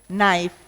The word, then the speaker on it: knife: And similarly, we know the K silent words, knife, knee, knock, no. Here the K is silent.